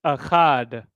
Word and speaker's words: achad: We have ka, and then we have da. And when we put them together, it's achad, achad.